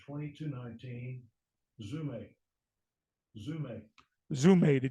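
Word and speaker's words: ζύμη: Zume, the D is silent.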